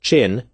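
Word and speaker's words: 朕: pun the fact that the imperial wi pronounced chin was a homonym to a slang word for penis or prick Why was General MacArthur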